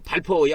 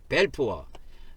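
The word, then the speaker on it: Balfour: 있어요 외무 장관 이름이 발포어 발포어 이것이 옛날에 우리 콩글리시로 바라보면 발포고무 발음하면 벨포로 발음하라고이 사람들은 벨푸어 벨프 벨푸어 그래서이 벨푸어 예무 장관이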